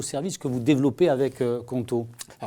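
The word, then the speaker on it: Qonto: Vous venez de passer un partenariat avec une néobanque en ligne, c'est comme ça qu'on dit, qui s'appelle Conto, je prononce bien ? Conto, c'est ça, tout à fait.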